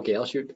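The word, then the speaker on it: Galchutt: my name is galeshi a lot of people ask me how to pronounce my last name it's kind of like parachute and i am by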